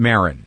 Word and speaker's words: Maron: And I'm Maron.